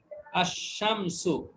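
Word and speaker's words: الشمس: এই যে শামসুন শব্দের আগে যদি আলিফ লাম যুক্ত করে উচ্চারণ হবে কিভাবে? আশ-শামসু, তখন উচ্চারণ হবে কি? আশ-শামসু, আশ-শামসু। আশ-শামসু। এখানে লামের উচ্চারণটা মানে আর নেই, এটা লুকিয়ে গেছে, না লামের উচ্চারণটা আর হয়নি এখানে, আশ-শামসু।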